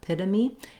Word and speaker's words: epitome: It sounds like pita, epitome. It's a reduced vowel here, very short, unstressed syllable. And then lastly, the letter E at the end, we actually say this.